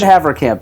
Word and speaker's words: Haverkamp: What did I say just now? You said Havercamp. You said it right.